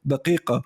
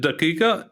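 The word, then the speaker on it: دقيقة: Do you actually pronounce it daqiqa in Jordanian? No. Daya or daqiqa. Oh, dia. We say daqiqa. Daqiqa in Iraqi, right? Yeah, we actually say daqiqa. Daqiqa is the closest to the Fusha.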